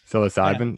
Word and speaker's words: psilocybin: honest i'm not going to try but uh psilocybin is that correct yeah psilocybin yeah so uh for for these other sort